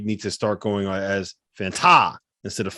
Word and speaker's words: Fanta: I think this year, John, you need to start going as Fanta instead of Fanta. You need to be Fanta. You got to put the right emphasis on the correct syllable.